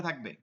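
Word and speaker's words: ث: ঠিক আছে কোন শব্দ আসতে পারবে না নরম উচ্চারণ করতে হবে বাতাস বসবে এটা তাফাসসির হরফ বাতাস বসবে চলতে থাকবে বাতাসটাকে আপনি হাত দিলে আপনি বুঝতে পারবেন বাতাস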